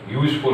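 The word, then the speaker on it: useful: ऐसे ही यूजफुल, अब यूज में हम यूज का अगर उच्चारण करें तो या से शुरू होता है, किससे शुरू होता है,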